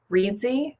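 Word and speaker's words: Reedsy: could go if she is solidly booked is readsy just be really careful um reedzy is spelled r-e-e-d-s-y and they do have editors there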